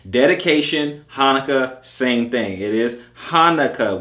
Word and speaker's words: Hanukkah: keep that in mind it's pronounced Hanukah okay dedication Hanukah same thing it is